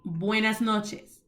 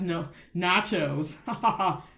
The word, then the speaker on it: buenas noches: a s space n-o-c-h-e-s please do not be up here ignorance saying boy that's no nachos i hear that from